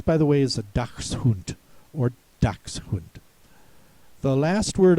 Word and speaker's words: Dachshund: You can expect the pronouncer to say Dachshund instead of Dachshund.